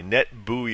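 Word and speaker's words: NetBEUI: call net Bowie net NE TBE you I net buoy is the way that's pronounced just a couple of other references for the session layer things like netbios and net buoy protocols that go back more than a couple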